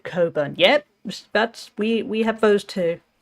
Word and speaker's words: Cockburn: Oh, it's Coburn. Oh, I want to pronounce it correctly.